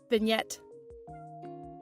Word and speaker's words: vignette: one is just a vignette. I don't know how to say it. Vignette. Vignette. Okay, yeah, that's how you say it.